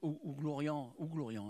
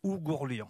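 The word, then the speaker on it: Oughourlian: Monsieur Joseph Ouglorian, je le prononce bien, c'est un trader. Comment vous dites? Ougourlian.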